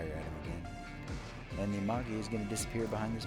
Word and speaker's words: Amagi: Amagi, do what you want. I think it's a hard G.